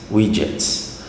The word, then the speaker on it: widgets: Os widgets são widgets, desculpa, a pronúncia certa é widgets, né?